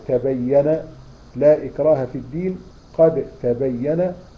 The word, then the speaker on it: قد تبين: فلما تيجي تقول قد تبين لا إكراه في الدين، قد تبين، فتنطقها ازاي؟ الدال والتاء أصبح زي الحرف الواحد، وتقول قد تبين. فين الدال؟ راحت خالص، كأنها شبيهة بالتاء لأنها ليها نفس المخرج، ماشي؟